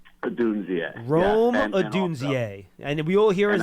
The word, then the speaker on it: Rome Odunze: I can't pronounce his name, but he's just so good. Okay, let's work on it. It's Rome Odunze. Rome Odunze.